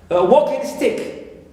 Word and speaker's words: walking stick: green the same thing also for walking stick as a compound word and the noun direct plus noun we here also we stress the first one because it's a compound